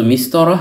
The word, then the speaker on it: مسطرة: তাননুন ব্যতীত শুধু মিস্তরহ শব্দটির অর্থ হল রুলার স্কেল যা দিয়ে রেখা টানা হয় ইত্যাদি। হারাকাতুন উচ্চারিত না হলে এই গুলতাটি বাংলার হ বর্ণের উচ্চারণ দেয়। তাই মিস্তর উচ্চারণ করেছি।